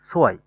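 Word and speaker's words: zwei: সেট, সেটের পরে হচ্ছে আপনার ভে, এ, ই, সোয়াই, এখানে সোয়াই, আই, সো, আই, ই আই থাকার কারণে শেষের আই এর উচ্চারণটা হয়েছে এখানে, আই ই হওয়ার কারণে এখানে ই এর উচ্চারণটা হয়েছে।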